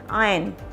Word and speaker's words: iron: it's ironing okay so the r is silent here iron and this is a